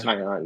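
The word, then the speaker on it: Taillon: Is it Jameson Tyion? Uh Tyion.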